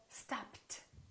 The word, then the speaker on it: stopped: is a voiceless consonant if the last letter of the verb is a voiceless consonant the Ed becomes a t so stopped so this is the rule last letter voiceless turns into T let's practice some more